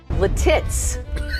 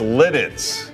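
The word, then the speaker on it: Lititz: The first town on the list was supposed to be pronounced differently, but Robin totally messed it up. Letitz. What? No, that's not. It was so off that her co-anchors couldn't contain their laughter. No, it's Lidditz.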